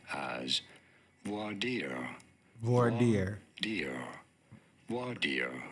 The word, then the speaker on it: voir dire: In French, for reference, it is said as voir dire. So if you know But that. in English, it is normally said as voir dire.